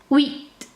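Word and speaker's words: huit: a little difficult okay the H in French is silent okay you don't pronounce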